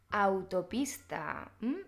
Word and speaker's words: autopista: Por ejemplo, en la palabra autopista, autopista. Un francés a lo mejor diría, la A con la U, ¿cómo se pronuncia? Recuerda, la A siempre es A, la U siempre es U, así que autopista, Europa, aeroplano y para acabar, Guadalupe o Guada.